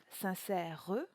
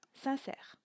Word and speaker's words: sincère: On ne dira donc pas sincère, mais bien sincère, ce qui fera deux syllabes.